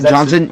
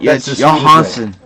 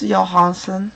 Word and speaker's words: Johansson: that close enough fer no it's not Johnson Johanson that's the way that's the Swedish way yes Johanson so we'll we'll sleeve our Swedish Johanson Johanson sleeved someone just